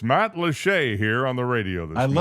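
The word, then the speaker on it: Matlacha: Well, it looks like Matt Latcha. It does. Matt Lach does a beautiful place. I don't know in English rules of pronunciation. How you get Matt Lache out of that spelling is beyond me.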